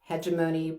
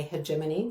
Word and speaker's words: hegemony: Hedgeimony or hegemony. So Americans say hedgeimonyy. British people say hegemony.